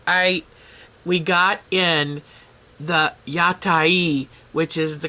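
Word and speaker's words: 屋台: Oh, Joe, I we got in the Yatai, which is the correct pronunciation for the food vendors in the streets of Japan.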